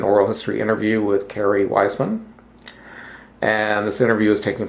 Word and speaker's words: Wiessman: Just so you know, I pronounce my name Kerry Wiessman. Wiessman, okay.